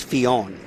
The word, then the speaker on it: Fionn: a bit of time trying to work out how to pronounce Fionn, and I looked it up, and I found it as Finn, but then I since found out it is Fionn.